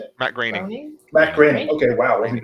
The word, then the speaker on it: Groening: And much like Matt Groening, how do you say it? Matt Groening.